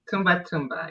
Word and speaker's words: Ntumba: Tumba. So the N is silent.